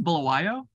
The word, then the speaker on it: Bulawayo: I think it's Bulawayo.